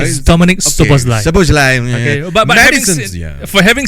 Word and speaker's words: Szoboszlai: Your Liverpool guy that I cannot pronounce Szoboszlai. His name is Dominic Szoboszlai.